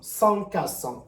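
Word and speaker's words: SONCAS: y a S o n C A S sans qu'à 100 comme ça se prononce c'est la sécurité la sécurité qui brille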